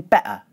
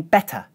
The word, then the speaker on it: better: As you can hear, I'm using a glottal stop in the middle of the word better. I'm feeling better. Almost all British people do this occasionally, even me, but it is considered lazy, improper pronunciation and should be avoided.